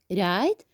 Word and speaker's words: write: The last one here, we have right. And again, we have the W here. We can't pronounce it. So this is silent.